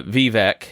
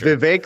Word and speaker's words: Vivek: think with Ramaswami uh Vivvec as I'll call them because I I'm I'm not good at pronouncing names that aren't uh anglicized because I'm uh backwoods It's Vake like cake.